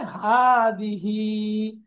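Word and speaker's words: هذه: হা, একটু উচ্চারণ লম্বা, হা দিহি, হা দিহি।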